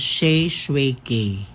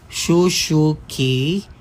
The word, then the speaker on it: Shae Shue K: Shay, yung pa-pronounce ng pangalan ko, Shay Shui K. Hindi Shushu K. Hindi Shushu Ka.